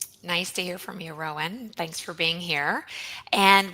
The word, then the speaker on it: Rowan: And over to you, Rowan. Am I pronouncing your name correctly?